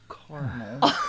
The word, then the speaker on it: caramel: Is it caramel or caramel? It's caramel.